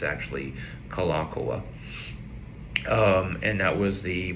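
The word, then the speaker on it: Kalākaua: Kalakawa is how you'll hear it pronounced. It's actually Kalakoa.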